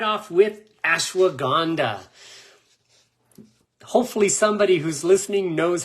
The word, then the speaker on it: ashwagandha: So I'm going to start right off with ashwagandha. Hopefully somebody who's listening knows how to spell that so they can get it in the chat box, but type in ashwagandha in the chat box.